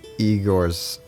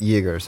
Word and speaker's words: Yegor: So let's go to old Igor's house. Yegor's house. Old Yegor's house. There we go. That's the pronunciation.